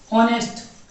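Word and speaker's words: honest: इसी प्रकार ही इज ऑनेस्ट, ही इज ऑनेस्ट, ऑनेस्ट ओ होता है क्योंकि एच इसमें साइलेंट होता है, तो ऑनेस्ट पढ़ते हैं इसलिए ही इज क्या हुआ, ही इज एन ऑनेस्ट हुआ।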